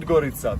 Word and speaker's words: Podgorica: How do you pronounce it? Because it's written Podgorica, but that's not... Podgorica, that's the main city.